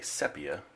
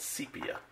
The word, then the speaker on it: sepia: for pronouncing it wrong i used to like to say sepia but it is not so i have been corrected and it's called sepia but that's still a challenge